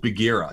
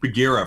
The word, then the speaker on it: Bagheera: is called MZ and the name is called Bagheera so like think Bagheera from The Jungle Book that did that didn't